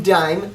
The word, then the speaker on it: Daim: And you pronounce the name dime like the American coin.